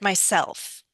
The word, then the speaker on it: myself: Myself, 2 syllables, but which one do Uh-huh. I stress? I'll do it myself. I'll do it myself. Self seems to be stressed out. Exactly. So we're going to put stress on Uh-huh. self.